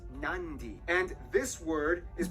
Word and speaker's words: Nadi: alphabet, C makes the th sound, D makes the nd sound, B makes the mb sound. Both Q and G Never make mind. the ng sound. Therefore, the town of Nadi is actually pronounced Nandi.